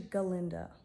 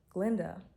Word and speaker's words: Galinda: And I'm just realizing her name is actually Galinda, but the goat couldn't pronounce it right. So like, she changed it to Glinda just so she could appeal more to her crush.